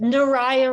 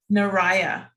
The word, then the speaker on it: Naraya: Naraya rhymes with Mariah. Naraya. Got it. Mhm. I was pronouncing it Spanish style.